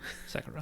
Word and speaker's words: Sekiro: Sekiro? Yeah. Sekiro. Whatever. Sekiro. Sekiro.